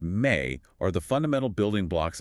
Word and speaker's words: me: The me, pronounced may, are the fundamental building blocks of civilization.